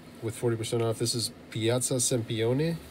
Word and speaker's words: Piazza Sempione: This is Piazza Sempione. Yeah, you need to say it like a piazza. Piazza Sempione.